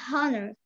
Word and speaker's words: honor: British said honor. With you no, and the American said honor. H here is silent. Honor. Honor? Yeah. H is silent.